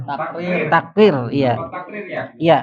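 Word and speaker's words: تكرير: Mudah pelafalan huruf pelafal huruf. Ada lagi. Ada lagi. Eh terakhir saya. Nah ini ini takir. Takrir.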